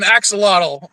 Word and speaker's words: axolotl: But here in English we call it an axolotl because we don't know how to pronounce.